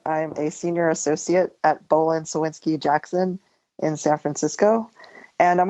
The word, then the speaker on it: Bohlin Cywinski Jackson: I'm a senior associate at Bolan Sinsky Jackson in San Francisco.